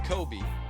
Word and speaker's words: Kobe: Breen Kobe, yeah, it's pronounced Kobe, not Cobb or even Cobbs like you might see on the official stats, is the leading receiver.